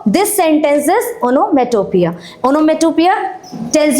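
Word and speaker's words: onomatopoeia: हाउ you will pronounce it? ओनोमेटोपिया।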